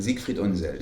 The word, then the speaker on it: Siegfried Unseld: Okay, which brings us to, you'll have to help me with the pronunciation, it's Siegfried Unseld? Siegfried Unseld.